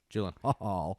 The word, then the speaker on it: Gyllenhaal: Jakey Gyllenhaal, spelled with 2 A's. Didn't know that. Jake and Gyllenhaal.